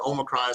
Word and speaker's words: omicron: talking about now the omicron some people pronounce it omicron um i looked it up both of those are actually okay pronunciations but um but like